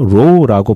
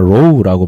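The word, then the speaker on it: Ρ: 문자 헬라어로는 이제 카이와 로우라고 발음하는데 우리가 이제 크리스마스를 엑스마스라고 하잖아요. 그 X가 크라이스트를 발음하는 X자거든요. 그래서 그 X와 어 그리고 P는 P가 아니라 그 알파벳은 P처럼 보이지만 로우라고 발음하거든요.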